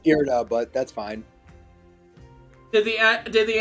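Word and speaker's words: Irida: Ida asked you to intervene, perhaps? It's pronounced Irda, but that's fine.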